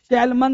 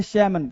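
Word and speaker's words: salmon: लेकिन आपको क्या बोलना है, ध्यान दीजिएगा, सैल्मन नहीं बोलते इसको, एल को करते हैं साइलेंट, बोलते हैं सैमन।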